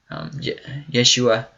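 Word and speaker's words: ישוע: Yeshua, I believe is how you would pronounce it in Hebrew.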